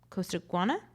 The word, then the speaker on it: Costaguana: award-winning Reputations, The Informers, The Secret History of Costaguana.